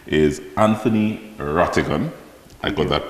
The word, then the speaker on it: Rattigan: His name is Anthony Rattigan. I got that pronunciation correct?